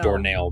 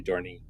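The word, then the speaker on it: dohrnii: I made doornail, but it's really dorney.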